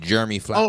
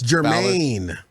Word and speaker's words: Jermaine Fowler: You're saying Jeremy Fowler. Oh, it's Jermaine. Fowler. Yeah, because Jeremy Fowler is a golf player. You're right. White. And I do like golf. Jermaine Fowler.